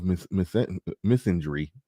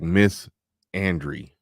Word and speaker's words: misandry: a good amount of misinjury. I always say it like misandry. Misinjury is how it's supposed to be said. Like I'm saying Miss Ann.